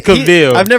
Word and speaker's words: Cavill: It's Cavill. I've never heard his name actually pronounced.